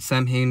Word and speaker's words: Samhain: festival of Samhain and Samhain is actually pronounced Samhain.